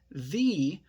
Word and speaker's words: the: for example and say thee when the noun begins with a vowel sound however this is not